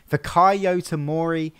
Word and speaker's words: Fikayo Tomori: One good thing that I'm looking forward to is seeing, I think this is how you say his name, Fikayo Tomori.